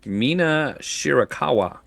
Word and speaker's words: Mina Shirakawa: Timeless Tony Storm versus Mina Shirakawa.